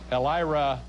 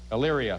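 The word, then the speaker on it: Elyria: your friend can some L IRA Ohio I'm not pronouncing that correctly am i Illyria thank you very much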